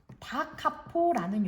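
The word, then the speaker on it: da capo: 다카포 쓸 때는 D.C.만 쓰지만 읽을 때는 다카포라고 읽습니다.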